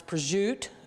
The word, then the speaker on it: prosciutto: with the remaining Pudo some people pronounce prute um which I certainly understand that but I'm not from Italy um so it's Pudo to me so we're going to